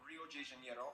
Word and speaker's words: Rio de Janeiro: from the old capital rio de janeiro that's right it's pronounced rio de janeiro not rio de janeiro get it right we're not in mexico this is portuguese not spanish this was done in